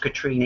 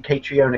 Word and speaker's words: Catriona: Second of all, I know it's pronounced Katrina, even though it's spelled Catriona, but I just called you Catriona because it pissed you off.